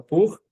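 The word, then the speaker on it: pour: O para ele pode ser duas palavras, ou perdão, ou você pode usar o pur, que é p o ur, ou você pode usar o alá e o or, né?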